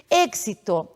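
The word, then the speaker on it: éxito: uma vogal na sequência o som Edu k s sendo assim pronuncio êxito para mim é e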